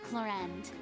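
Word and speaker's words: Clorinde: Stand down, Clorend. I admire her That's how bravery. you pronounce the name. I thought it was Few have the Chlorine.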